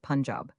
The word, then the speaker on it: Punjab: You must pronounce it Punjab.